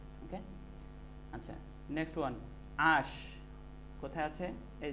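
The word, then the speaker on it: h: আশ কোথায় আছে? এই যে আশ। আশ হবে না হা। আচ্ছা, এইচ, এইচের উচ্চারণটা উচ্চারণ উর্দু থাকবে।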